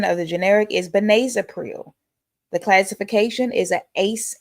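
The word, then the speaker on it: benazepril: The pronunciation of the generic is benazipril.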